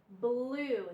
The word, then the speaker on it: blue: And we have, again, two vowels. U, E. The U is long, the E is silent. So we have blue, U. Okay? The blue in block. And our two vowel rule, when you have two vowels in a word, the first vowel is long, U, and the second vowel is silent. You don't hear it.